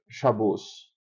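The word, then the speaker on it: Shabbat: Por exemplo, eles dizem, em vez de dizer Shabat ou Shabat, eles dizem shabos.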